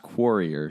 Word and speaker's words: Quarrier: It's pronounced Quarrier Street.